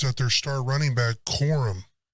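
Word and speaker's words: Corum: their star running back quorum I believe it's Quorum uh forgive me if I say it wrong c-o-r-u-m he was injured last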